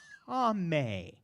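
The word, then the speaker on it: טָמֵא: The Hebrew words, all right, clean is taher, and unclean is tameh. Okay, that's how you pronounce those words.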